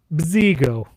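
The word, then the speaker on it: Bzigo: You need bziggo. That's how you say it.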